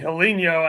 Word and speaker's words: Helinho: I think he's saying Helinho as in like hello, but Brazilian. But I could be wrong. Oh, okay. No, that's definitely how they say it in Brazil.